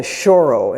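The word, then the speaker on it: choro: Style of this music um is called a shoro. And that's spelled C H O R O.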